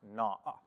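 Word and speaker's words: נא: lot of translators overlook this one word it's pronounced na right it's just an n a with a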